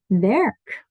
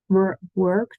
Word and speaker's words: werk: Okay, werk. So not work, twerk. So it sounds like a lot of people say twerk without the T, work, and make it sound like the work, but it's an eh here.